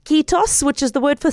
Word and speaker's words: Kiitos: this interview, and I hope I'm going to pronounce it correctly in saying "Kiitos", which is the word for thank you.